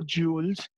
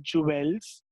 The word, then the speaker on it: jewels: no rich addresses no jewels nothing and these were the only things she loved we do not pronounce je wel L as Juelz it's jewelry and it's jewels okay so she had